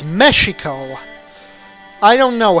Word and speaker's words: Mexico: it breaks those rules Mexicans generally pronounce the name of their country mehico giving an H sound to the X even though there's no precedent for that in any language the original word was Mexico I don't know how